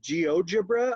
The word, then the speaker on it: GeoGebra: next section and you mentioned the website called geogebra am I saying that right Kim yes okay can you spell that for me very quickly ge o GE